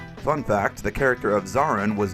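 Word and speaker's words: Zorran: Fun fact, the character of Zarin was named so because it rhymes with Moran.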